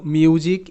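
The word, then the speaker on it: music: এস এর উচ্চারণ মাঝে মাঝে বর্গীয় জয়ের মতনও হয়, যেমন শব্দ মিউজিক, এম ইউ এস আই সি, মিউজিক, মিউজিক।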